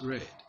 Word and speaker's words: read: And then read, still spelled the same way, but pronounced read in past tense and past participle.